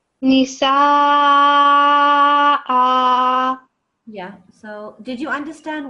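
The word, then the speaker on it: النساء: So first of all, this needs to be prolonged quite a bit because it's a letter, it's a sign of extra elongation. So Nisa. Nisa.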